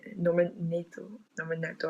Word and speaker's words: Norman Nato: Norman Nato, I think, is how you pronounce it.